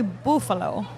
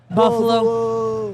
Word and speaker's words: Bufalo: And after that second date, I realized I said your last name wrong. Bufalo. Bufalo. It's actually Bufalo. Bufalo. In high school, did you ever get the Buffalo.